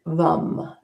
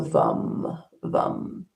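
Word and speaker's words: vam: is um excuse me vum. It's v a m vom, but uh it's, you know, even though there's an a there, it's pronounced like a u. So vum vum.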